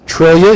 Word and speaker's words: Triglia: Trillia, yes. Trillia. I was close. So Close. Sure you Spelled Triglia, pronounced Trillia.